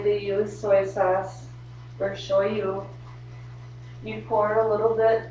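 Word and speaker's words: しょうゆ: in a Japanese restaurant soy sauce is pronounce show you so if you hear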